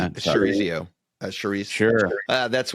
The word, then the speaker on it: chorizo: Um I'm hoping I'm pronouncing this correct, Manchego. Firm, uh buttery, excellent with char zero. Char zero I'm probably blowing that. Chorizo uh chorizo.